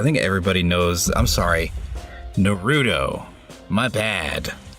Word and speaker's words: Naruto: everybody knows I'm sorry no rudo my dad let me pronounce it correctly for mirka no rudo everybody knows what it